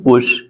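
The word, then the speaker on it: push: एच की तो कैसे पी यू एस एच इसको हम क्या पढ़ते हैं पुश पुश मतलब क्या होता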